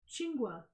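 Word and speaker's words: chwinga: with certain chilies I know um they're called chingwa how do you spell it uh c h w i n g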